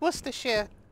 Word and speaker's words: Worcestershire: of your mouth covered and scrub well it's Worcestershire you know that's how you pronounce it plus this year I don't understand